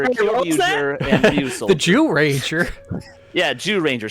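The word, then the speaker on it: Zyuranger: Ranger abber Ranger and the Jew Ranger yeah Jew Ranger spelled zyu Ranger and it's pronounced Jew it's Jew is in beasts like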